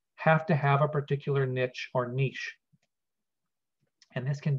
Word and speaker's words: niche: ecology, actually, because we often talk about the niche or niche, some people pronounce it, of an organism.